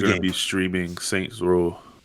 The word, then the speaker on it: Saints Row: got to learn how to say the game right before you start correcting people on 3 and the third. It's Yeah. Saints Row. Row. I know it's a row. It's not rows.